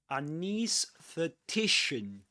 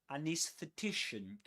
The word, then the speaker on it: anesthetician: You can say both.